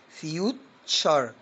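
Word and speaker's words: future: يلا كلمة مستقبل وكلكم عارفينها معظمكم، فيوتشر، تبقى فيوتشر.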